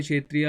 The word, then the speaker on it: क्षत्रिय: ठीक है, क्षत्रिय, ये के साइलेंट होता है इसलिए मैंने क्षत्रिय लिखा है यहाँ पर, के लिखा है मतलब।